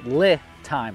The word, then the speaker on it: LiTime: to say it but it's Li time like lithium so that might be